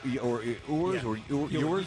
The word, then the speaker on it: Ewers: Quinn Ewers, Ewers.